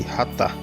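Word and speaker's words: חָטָא: Catar pronuncia-se ratar, com H, que literalmente significa errar o alvo, né?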